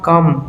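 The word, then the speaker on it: comb: উদাহরণ এটা সাম আমি যেনকা বন্ধকল এল এ এমবি lame be silent L এ M lame be silent যেনকা কাম be silent C ও এম বি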